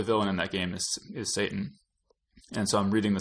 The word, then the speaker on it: Satan: Joey gives note-for-note set and dumb ass it's pronounced Satan so I still I still remember that it's like I don't know install I still think it should be for now Saten I mean that's how it's spelled but but